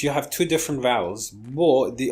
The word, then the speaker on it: beau: But what we do here, beau, is just beau. This is the pronunciation of beau.